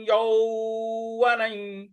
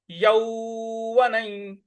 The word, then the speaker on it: यौवनं: कौमारं यो, यौ, कौमारं यौवनं, यौवनं, न के ऊपर जो यौवन का जो न के ऊपर जो अनुस्वार है उसका उच्चारण हमें इया की तरह ले आना है।